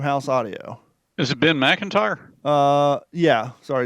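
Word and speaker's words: Macintyre: changed the nature of the war by Ben Mcinary and Random House audio. Is it Ben McIntyre? Uh, yeah. Sorry, it's spelled a little weird.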